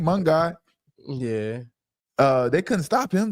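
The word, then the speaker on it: Monangai: Monaghan.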